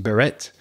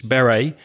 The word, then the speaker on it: beret: it might be pronounced Beret in some languages but we don't pronounce the T normally in English Beret and it's a round